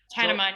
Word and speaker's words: Tanaman: Am I saying it right? Tanaman, yes.